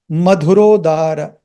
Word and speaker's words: Madhurodara: This dha and this da are two different. Here you have a H sound. Here no H sound. Madhurodara Madhurodara.